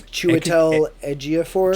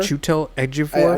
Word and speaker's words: Chiwetel Ejiofor: And I can never pronounce his name. I think it's Chiwetel Ejiofor. Chiwetel Ejiofor.